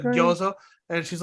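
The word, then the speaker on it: gyoza: You know, I didn't say gyuzo, yeah, I that's said great. gyozo.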